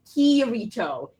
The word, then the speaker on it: Kirito: Also, it's KIRITO. KIRITO. You kept saying it. And I kept saying it so wrong.